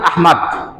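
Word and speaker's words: أحمد: হিসেবে না আহমেদ হিসেবে আহমেদ আর আহমদ এটা কি এক উচ্চারণ যদি আমরা নবীজির নাম হিসেবে রাখি তাহলে নবীজির ভালোবাসায় এই শব্দটা বিশুদ্ধ ভাবে রাখা আমাদের কর্তব্য সুতরাং আমরা যদি সন্তানের নাম নবীজির নামে আহমদ রাখি তো আহমাদ রাখা আহমেদ না রাখা আহমেদ ভুল উচ্চারণ আরো এই নামটা আহাম্মদ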